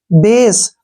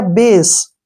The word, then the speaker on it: base: Next है BASE, बेस। क्या हुआ है इसमें, ध्यान से दोबारा सुन लीजिए। ए आया है, ए के बाद एक कॉन्सोनेंट आया है, उस कॉन्सोनेंट को छोड़कर अगर ई आता है तो उसका उच्चारण, ए का जो उच्चारण है वो हम ए के रूप में करेंगे। ये हो गया बेस। CAKE, केक, ठीक है ना।